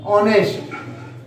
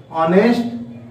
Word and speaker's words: honest: Here honest, honest is also, H is silent, we are not pronounce the H sound, therefore we use an